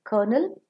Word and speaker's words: colonel: dash is very sweet c-o-l-o-m-e-l kernel is a military header and k-e-r-n-a-l kernel is